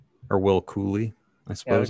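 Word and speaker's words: Cuylle: cool or will cooley i suppose how do you say this name i always get his name wrong like it's i heard cooley i heard coil it's definitely not coil i think it's [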